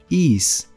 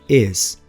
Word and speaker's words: is: Nós falantes de português temos a tendência de pronunciar is, por ver a escrita is, mas na verdade o som é is. Um I relaxado terminando em Z.